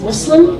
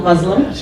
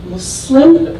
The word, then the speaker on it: Muslim: And by the way, the pronunciation is Muslim, not Muslim. Muslim, the soft S, there's softness in the S, as I was told by my fellow colleagues and community members.